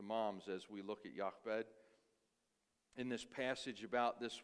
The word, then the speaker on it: Jochebed: I pronounce it Jochebed, Jochebed, Jochebed, Jochebed.